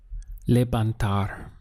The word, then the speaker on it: levantar: The verb to lift in Spanish is levantar. We have 3 syllables. Le-ban-tar.